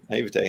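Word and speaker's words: naïveté: you're so good with grammar, but is it naivete? Is that how you say it? Sure, naivete, yeah.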